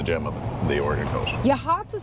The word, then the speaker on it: Yachats: to pronounce it because they were saying yachts. They weren't sure how to pronounce it. But Ron, how do you help me remember how to pronounce yachts? Yahhats. Cuz when you're hot, you're hot. And when you're not, you're not.